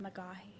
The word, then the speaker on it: McGaffey: Last name is pronounced McGoy.